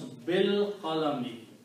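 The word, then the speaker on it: بِالْقَلَمِ: And when you pronounce, you do not pronounce this alif. Pronounce bil qalami, and when you don't pronounce, then this changes into a small swar called hamzatul wasl.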